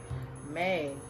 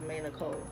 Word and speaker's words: maeenicolee: Maeenicolee. Somebody asked me on my Instagram, asked me in the DMs, how do I pronounce my YouTube name? And my YouTube name is maeenicolee.